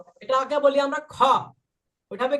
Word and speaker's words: خ: দেখেন এর উপরে একটা নুক্তা দিয়ে দিলাম এবার উচ্চারণটা হবে লক্ষ করেন খ বাংলায় একটা অক্ষর আছে না খ এই যে খ অক্ষরটা আছে না বাংলায়